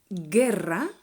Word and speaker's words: guerra: two examples of this how would you pronounce these words guerra and not guerra the u is mute and guitar not guitar